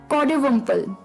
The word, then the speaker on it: coddiwomple: तो चलिए the third word for the evening was कॉडोवम्पल। कॉडोवम्पल, जी हाँ दोस्तों, अटपटा वर्ड था, प्रोनाउंसिएशन थोड़ी सी अटपटी है, पर कॉडोवम्पल CODDIWOMPLE,